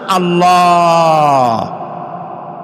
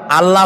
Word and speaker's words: আল্লাহ: কি গুণ বলেন কি গুণাবলীতে বিশ্বাস আল্লাহর নাম আল্লাহ বলেন তো আল্লাহ নয় কিন্তু আল্লাহ হচ্ছে অশুদ্ধ শুদ্ধ হচ্ছে আল্লাহ বলার সময় মুখটা